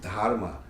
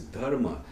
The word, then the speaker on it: धर्म: I would put dharma, and with your wrong pronunciation, you would say dharma. That's a, you didn't know you had a, problem in pronouncing, but anyway, it's a dharma.